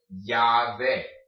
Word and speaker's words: llave: Put the Y sound there. Llave.